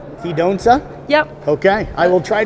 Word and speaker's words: Cidoncha: My last name is pronounced Cidoncha. Cidoncha?